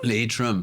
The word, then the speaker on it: Leitrim: Leitrim. Pronunciei Isso aí, certo.